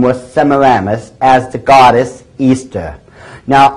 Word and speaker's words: Ishtar: semaramus as the goddess Easter now a lot of people think it's pronounced Ishtar i-s-h-t-a-r people check the Babylonian tell mode once again it is properly pronounced this very day Easter and accordingly as The